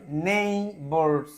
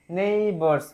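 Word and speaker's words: neighbour: সেটা কি হয়ে থাকে সাইলেন্ট ঠিক আছে এটা উচ্চারণ হয় না ঠিক আছে আচ্ছার আই একত্রে এই সাউন্ড হবে নেইবার নেইবার মানে তার যে প্রতিবেশীরা নেইবার প্লুরালে আছে তার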